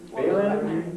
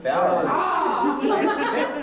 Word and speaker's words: Fallon: Phelan or Fallon? Or Fallon. Fallon. Fallon. There is the official word, it is Fallon.